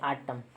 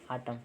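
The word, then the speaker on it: autumn: ओ आता है ना एम के बाद अगर एन हो ना तो जो एम को साइलेंट साइलेंट हो जाता है ठीक है एम नहीं पढ़ते आटम ठीक है आटम ठीक है एन वहा पर साइलेंट हो जाता है यदि एम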